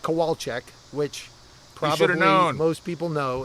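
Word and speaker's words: Kowalczyk: feel better uh but you pronounce that kowalek which probably most people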